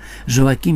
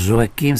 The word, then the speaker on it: Joachim: moi dans la matière, Joachim Boufflet, n'est-ce pas ? Prononce Joachim, ça s'écrit Joachim, bon, mais je préfère Joachim, et qui est l'autre